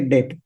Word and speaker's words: debt: Generic product or assets are debt asset, spelling as this T is silent. So we say debt.